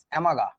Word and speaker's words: Amagat: অ্যামাগা বানানটা ইংরেজিতে এরকম, AMAGAT, অ্যামাগা, অ্যামাগা curve, অ্যামাগাস curve, CURV, অ্যামাগাস curve, এরকম আর কি বানানটা। টিটা সাইলেন্ট থাকবে, টিটা উচ্চারিত হবে না।